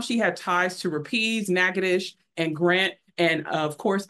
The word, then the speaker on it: Natchitoches: For mom, she had ties to Rapides, Natchitoches, and Grant. And of course, I would be remiss being a Louisiana researcher if I did not remind everyone that that is not Natchitoches, it's Natchitoches.